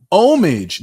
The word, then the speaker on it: homage: mental balance and restoration homage the H is silent I was 32 years